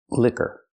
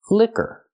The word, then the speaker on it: liquor: licorice very good and this word is pronounced liquor it's two syllables put the stress on it first syllable liquor use a short I sound like this is Li lick liquor and the IR sound like in Burger liquor and this is